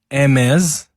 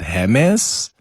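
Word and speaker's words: Hermès: Helen Zille sparked some controversy by labeling the Hermes backing bags ugly, insane, and obscene. And I hope I'm pronouncing Hermes backing correct, because initially I thought, is it Hermes? Is it Hermes? But I'm told it's Hermes.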